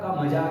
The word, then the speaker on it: calm: PALM, पाम, PALM, पाम, ध्यान देना, L silent है बेटा, यहाँ पे एल का प्रोनाउंसिएशन नहीं होगा, है ना, पाम, जैसे